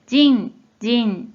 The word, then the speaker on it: 迅: 자, 이 한자는 뜻으로는 발음이 없고 음으로만 人、人、 이라고 발음해줘요.